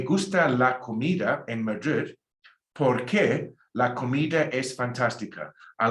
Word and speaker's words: porque: But now join it with porque, and rewrite above that word P-O-R-K-E, because you don't pronounce a U after a Q, like how you do in que tal. So it's porque, because.